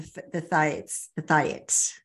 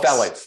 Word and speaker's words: phthalates: you talk about the thiates, is that correct? Am I saying it correctly? The thiates, the plastics. Oh, phthalates. Phthalates. Uh-huh.